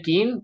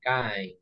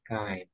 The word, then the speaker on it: kind: Okay, so if you say kin, you're saying this. You're not saying this, so you say kind. Okay, remember? You say kind. That is how you pronounce it, kind.